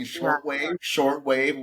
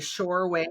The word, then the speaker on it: Shortwave: I'm using Shortwave, which connects to OpenAI. Really? Shore wave or short wave? But I've been saying the name wrong so much. It's Shortwave.